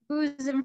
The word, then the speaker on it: bosom: Bosom friend là a friend you like a lot. A bosom friend. Con không đọc là bosom. Yeah. Bosom. With the Z, right in the middle, bosom friend.